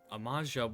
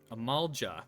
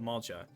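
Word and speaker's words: Amalj'aa: As one example, did you know that in the war against Sil'dah, Ul'dah and Amaja warriors, Amalja, that's how you pronounce it, Amalja, warriors fought side by side?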